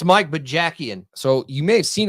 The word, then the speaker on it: Bajakian: talk about him real fast I can't even pronounce his last name you might have seen yeah it's Mike B jackan so you may have seen him on the